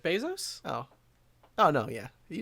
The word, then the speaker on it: Bezos: Chris lignans you are Jeff besos that's not so how you say it Jeff Bezos oh oh no yeah